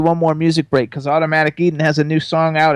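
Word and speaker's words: Automatik Eden: So, the name of the band is Automatic Eden and they spell it A u- T O M A T I K E D E N.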